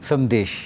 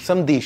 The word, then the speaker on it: Samdish: No, It's Samdish. Not 'dh' Samdhish. Samdish.